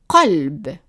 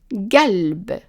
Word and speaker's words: قلب: it will be pronounced galb, galb. Right. If we are pronouncing it as a vowel, then it will be pronounced alb. It's like we drop in the Q here.